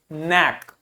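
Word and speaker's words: knack: K लिखा है उसके बाद N लिखा है तो K को प्रोनाउंस नहीं करेंगे, क्या बोलेंगे? नैक।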